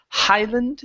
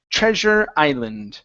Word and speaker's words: Treasure Island: treasure so this is Treasure Island so let's take off the h instead of Highland it's Treasure Island try that treasure Highland